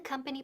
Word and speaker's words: company: Esa O suena como que, como una A.